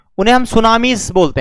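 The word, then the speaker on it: tsunami: ज्वालामुखी earthquakes है, volcanic eruption है, सुनामीज यह भी यही आती हैं। सुनामी यहां टी साइलेंट होता है सुनामी में।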